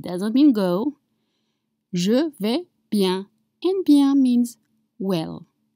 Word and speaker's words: bien: It's spelled B-I-E-N. And again, you have a semi-vowels and the sound is un. Un. You have your mouth open. Un. Just like you when you're at the dentist. Un.